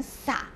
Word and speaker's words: 洒: 了水珠、小心它的这个注音、要念成什么，要念成洒、洒满了水珠。